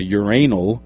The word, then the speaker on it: urinal: The fountain which was a uranal which is the British pronunciation of urinal which is it really?